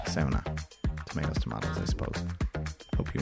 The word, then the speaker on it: sauna: We also learned that we've been saying sauna wrong this whole time. In Finland it's pronounced Sow-Na.